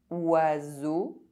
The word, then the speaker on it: oiseau: EAU is pronounced O. O. Oiseau.